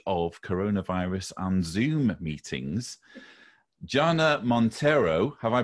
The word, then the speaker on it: Jana Monteiro: in the age of coronavirus and zoom meetings gianna montero have i pronounced your name and welcome you you have